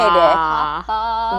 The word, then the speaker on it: Hapa: Hapa.